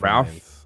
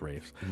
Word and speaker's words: Ralph: Ralph. Rafe. It's pronounced Rafe.